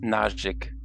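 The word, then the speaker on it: naazhiig: h i i g yeah so that's nausic and that z h is just like z or z is the voiced version of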